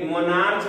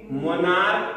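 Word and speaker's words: monarch: बता रहे हैं जैसे एम ओ एन ए आर सी एच, माने मोनार्च नहीं पढ़ना है बल्कि मोनार्क प्रोनाउंसिएशन करना है, क्या करना है मोनार्क, और एस टी ओ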